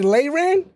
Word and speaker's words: Albany: oh that's what's up you say LAN that's that's how you say it oh snap make sure we say that I like I've been saying it wrong the whole time wait a